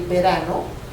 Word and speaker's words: verano: a small V but we pronounce the large V and the small V the same so we will say Verano the fall or Autumn